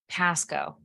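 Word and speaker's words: Pascoag: The G is silent. Go ahead. Pasco.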